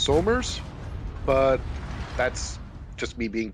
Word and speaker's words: Somers: He pronounces it smurs. Just hurts inside. Technically, it's supposed to be pronounced Somers, but that's just me being pedantic again.